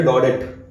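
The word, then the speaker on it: Daudet: Okay, जैसे ये ना हम इसको पढ़ेंगे डॉडेट, पर डॉडेट नहीं है, यह है डॉडे, फ्रेंच नाम।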